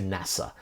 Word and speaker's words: NASA: So the National Aeronautics and Space Administration, NASA, that's an acronym, because we don't say NASA, we say NASA.